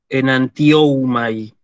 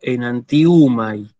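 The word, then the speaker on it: ἐναντιοῦμαι: Y fíjense cómo lo acabo de pronunciar. No digo enantioumai. No, digo enantiumai. ¿Sí? El diptongo U.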